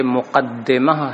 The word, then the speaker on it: مقدمہ: موضوع کا بیان ہے۔ لفظ مقدمہ کے بارے میں بتا دیں کہ یہ مقدمہ ہے دال کے کسرے کے ساتھ، اور یہ قدمہ یقدم